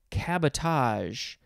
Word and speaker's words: cabotage: Next we have cabotage. C-A-B-O-T-A-G-E. It's like the word sabotage, but let's find out what this one means.